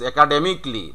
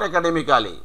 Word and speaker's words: academically: হ্যাঁ ইয়েস একাডেমিকলি, নট একাডেমিক্যালি।